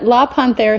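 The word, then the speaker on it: La Panthre: oh absolutely it's a la Panther studio so it's French for the Panther so la and then Panther but with an e at the end so I'll spell it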